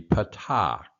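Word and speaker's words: פַּתָּח: So you have the kamats, kamats, and the patak, patak. And both of these in modern Hebrew are pronounced A as in ya, at, at. There's no a in Hebrew. There's only an a sound.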